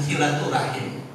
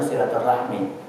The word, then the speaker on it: silaturahmi: Rah baru Mi tapi kalau dalam bahasa Arab sebenarnya sama tapi yang benar itu senya silaturahmi kata-kata Rahmi bukan rahim tapi Rahmi